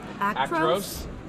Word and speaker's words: Actros: Actros.